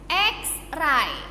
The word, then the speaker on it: x-ray: eh Hai tray Nah kalau dia tidak bertemu dengan huruf a focal maka dibacanya tetap X x-ray nah seperti itu teman-teman dan